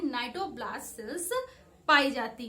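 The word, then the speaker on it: cnidoblast: तो आज से पूछा जा रहा है नीडोब्लास्ट, ठीक है। स्पेशली सी साइलेंट रहता है।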